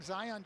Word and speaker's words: Zion: Zion, like Mount Zion, strong, powerful.